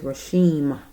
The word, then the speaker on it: Rasheem: say his name right okay it's an m at the at the end his name is rashim sorry Mr Carter Mr rashen Carter 25y old young